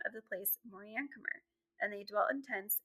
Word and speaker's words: Moriancumer: The last part of his name, I'm not saying wrong. Moriancumer is fine.